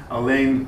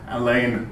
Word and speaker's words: Alain: But he went to France and he liked it there so much that forever after he told people to pronounce his name in the French vein. So we're going to call him Alain Locke.